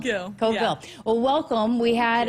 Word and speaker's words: Cogill: I know a lot of people might be a little confused, but it's Cogill. Cogill.